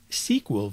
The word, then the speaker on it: SQL: We can create a query in Design View, use Wizard to create query, or create query in SQL View, which some people might pronounce as SQL View.